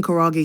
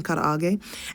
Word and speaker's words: karaage: We say chicken karaage sometimes online, but it's chicken karaage, and then which is like a Japanese kind of fried chicken.